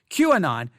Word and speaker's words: QAnon: what queueing on is first let me spell it out it is capital Q capital a lowercase n o n Q and on Q a capital Q